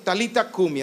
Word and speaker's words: Talita Kumi: dijo, literalmente en español, es Talita Kumi. Esto es arameo, Talita Kumi, así se pronuncia en español ese arameo, que traducida es, niña, a ti te digo, levántate.